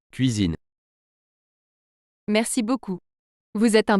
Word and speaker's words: cuisine: Ce mot se prononce cuisine.